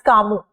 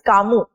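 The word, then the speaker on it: Camus: know even Albert C for that matter we pronounce it as kamu correct so it's not kasas it's kamu so you need to even start working on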